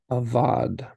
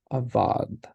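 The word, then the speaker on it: עָבַד: our new word ah avad so again that syllable stress is going to happen on the last one so avad avadh that dalit does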